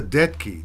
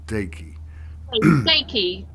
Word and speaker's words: Deyki: in now so Lisa daki Ray is that right does that pronounce it right here let me put your name so people know your name Lisa dead key dead key not deki is that right d-e-t-k-i